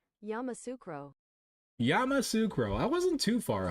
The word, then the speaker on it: Yamoussoukro: Yamoussoukro pronunciation. Yamoussoukro.